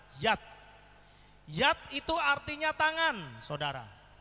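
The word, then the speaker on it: יד: Dibacanya Yat. Yod dan Dalet itu dibaca Yat.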